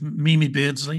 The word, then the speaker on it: Mimi Beardsley: I mean I do love the story of Mimi Beardsley if I'm pronouncing her name correctly me MIM that's right